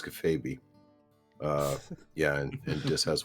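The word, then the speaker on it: kayfabe: And I'll And I'll let you know, by the way, it's pronounced uh it's pronounced cafab.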